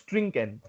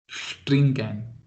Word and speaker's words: trinken: Let's say the word is trinken. Stringen. Yeah. Not STRI. trinken.